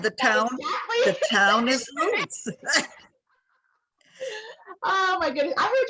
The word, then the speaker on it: Lutz: So, how do you pronounce your last name? Lutz. And how do you pronounce the town? So, and the town, the town is Lutz.